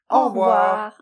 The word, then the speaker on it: Au revoir: And for the pronunciation, in general, we don't say "au revoir", we say rather . - "Au revoir !"